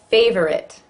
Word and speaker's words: favorite: Favorite versus favorite. Looks like it should be 3 syllables, it's pretty much 2.